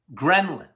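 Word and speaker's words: ghrelin: g h uh r e l i n Gren okay gin yeah I think it's spelled it's pronounced gin leptin and G they're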